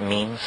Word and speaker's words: meme: means you know what memes are memes are the smallest units of a concept and they're like genes the word is deliberately constructed to to rhyme with gene and so when i